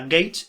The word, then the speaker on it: gauge: Y también en los 40 y luego ya en los 50 se desarrollaron bastante las teorías gauge, que se escribe gauge, se pronuncia gage y creo que se